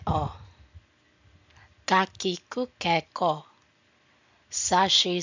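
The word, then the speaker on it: を: Notes on special characters. O pronounced o used only as a grammatical particle.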